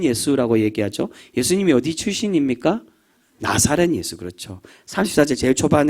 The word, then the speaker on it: 나자렛: 얘기하죠 예수님이 어디 출신입니까 나사렛 예수 그렇죠 34절 제일 초반 에 아 나사렛 예수여라고 그렇게 표현합니다이 나사렛 예수란 말은이 좀 더 정확한 발음으로는 나자렛이라는 단순히이 나자렛 나사렛은 예수님의